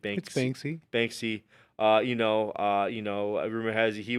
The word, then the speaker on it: Banksy: it's Banksy.